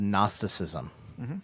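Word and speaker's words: Gnosticism: And then there rose this thing called nnosticism uh spelled with a G. So if you're looking it up and googling it, it's GN. So narcissicism.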